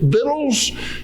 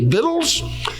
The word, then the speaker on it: victuals: It comes out looking like victuals, but it never caught on, and everyone continued to pronounce it victuals. And so the correct pronunciation, when you're reading the Bible and you come across that word, you can just go ahead and say victuals, and know that you